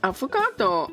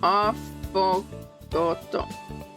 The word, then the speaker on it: affogato: An avocado. Oh god. Affogato. Affogato? I guess that's how it's supposed to be pronounced.